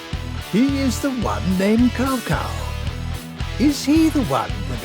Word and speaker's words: Cao Cao: mispronounced the names, because the way you pronounce Cao Cao is actually supposed to be Cao Cao because it's Chinese.